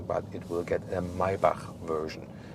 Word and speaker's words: Maybach: The EQS SUV will not receive an AMG version, but it will get a Maybach version. 'Maybach', listen and repeat.